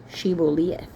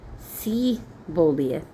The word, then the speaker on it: Shibboleth: If he replied no, they said, 'All right, say Shibboleth, Shibboleth. If he said Sibboleth, like didn't pronounce the H, because he could not pronounce the word correctly, they seized him and killed him at the fords of the Jordan.